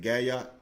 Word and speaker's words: Galliard: Is it Galliard? Galliard. Galliard, okay. I Galliard. thought the L's were pronounced with a Y. It's just like it looks.